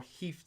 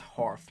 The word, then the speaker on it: hearth: known as house or heath spirits my bad is pronounced hearth not heath sprites that do household